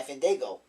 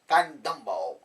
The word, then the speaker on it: Fandango: Before he's interrupted by Fandango. All people interrupt and shows Jericho how to say his real name. Jericho calls him Fandumbo. Fan Douglas. Local. Van Dole.